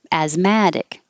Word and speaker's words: asthmatic: all it's just asthma asthmatic the adjective the stress moves to the mad as mad asthmatic but both of them